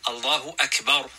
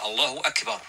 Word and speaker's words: Allahu Akbar: So therefore, a believer, he will not put elongations wherever he likes or feels like, but rather he will He will pronounce the words properly, and this requires learning. Allahu Akbar, like this.